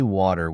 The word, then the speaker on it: water: I noticed that native speakers say water with a soft D sound.